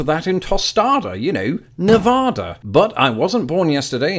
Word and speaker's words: Nevada: people of Nevada that I will pronounce it Nevada what's that there's a city in Iowa with the same name as pronounced Nevada I give up bring on